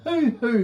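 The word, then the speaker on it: huhu: said that have you ever heard of a hoo-hoo grub a what a who-who-grub it's spelled h-u-h-u grub no i can't say that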